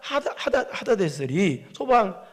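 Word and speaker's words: 하닷에셀: 아주 이제 빼앗고 가서 이제 그랬는데 이 소바나라 하다데셀이 발음이잖아.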